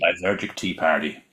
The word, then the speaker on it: Lysergic Tea Party: Lysergic Tea Party. Lysergic Tea Party.